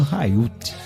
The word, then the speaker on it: Haiut: Rapaz, Germano Raiuti. É a pronúncia, eu não sei se tá certo. Certíssimo. Não sei se tá e certo. Aí, é H aspirado.